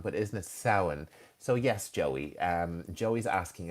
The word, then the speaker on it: Samhain: Correct me if I'm wrong, but isn't it Samhain? So yes, Joey. Joey's asking about Halloween. And Halloween started in Ireland and Scotland and in Celtic traditions many, many years ago. And its original name is Samhain.